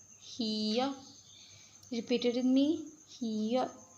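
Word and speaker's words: 히읗: Name is hiya. Hiya.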